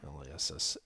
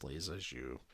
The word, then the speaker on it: Lissajous: Lassajous. Yeah, it's pronounced Lissajous, even though it's pronounced even though it's spelled Lissajous. Now this isn't exactly the